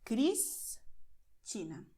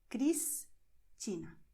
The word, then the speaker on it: Cristina: You also have the letter S before a consonant, but at the end of the syllable. So you say Cristina. You separate the syllables, and after S you see a consonant. Cristina.